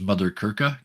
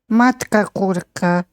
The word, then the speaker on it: Matka Kurka: I'm going to use again the words I can pronounce, which is Mother Kirka. Can I get you to actually say their name? Matka kurka.